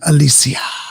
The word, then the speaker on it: Alysia: i'll be messing with you that's my name alicia yeah okay thank you for saying it right